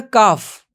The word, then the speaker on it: calf: For a cow it is a calf. L is silent here.